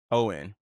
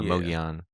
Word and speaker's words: Mogollon: Mogollan. Owen. Yeah, Mogollon.